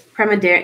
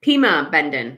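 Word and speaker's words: Pimobendan: Pima Bendon. No R. Pima Bendon. Thank you. Unless there's another one called Prima Bendon, but I think it's just Pima Bendon.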